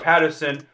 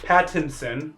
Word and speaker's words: Pattinson: big thing is uh robert patterson robert pattinson because i know i butchered it last time and then people attacked